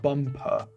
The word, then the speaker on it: bumper: Be careful, guys, with the letter U in English, because the letter U, for native Russian speakers, they usually pronounce it the letter A. So like the word stuff and staff. Yeah, a lot of people say they can't tell the difference between the two. So don't say bumper, say bumper.